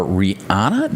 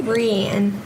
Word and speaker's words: Rianne: But we'll be talking to Greg and his lovely daughter, Rihanna. Did I say it right? Rianne. Close enough. Practiced like 30 minutes before. Rianne, like Leanne, but with an R.